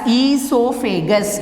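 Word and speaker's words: oesophagus: Now in this word, O is silent. So you have to pronounce as esophagus. O-E-S-O-P-H-A-G-U-S. Buccal cavity. Then esophagus.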